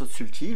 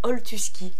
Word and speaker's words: Oltuski: En direct d'un canapé à Belleville avec Otsulti. bonsoir, bonjour. Tu as dit comment? Mal prononcé? Oltuski.